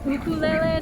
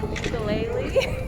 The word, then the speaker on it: ukulele: And also, a thing that I'm always like correcting people on is it's pronounced ukulele, not ukulele.